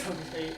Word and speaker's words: Hocotate: how is it pronounced is it hocotate or hotate I think it's hocotate hocotate okay that's different